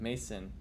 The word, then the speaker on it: Masan: Okay, so just say Mason. Okay, well, why don't you just say that, Mason? Oh, I guess that is Mason. M-A-S-A-N, Mason, with an A.